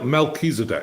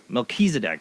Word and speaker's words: Melchizedek: mckinsey deck is how you say the kills melchizedek yeah melchizedek now i know there's a biblical reference to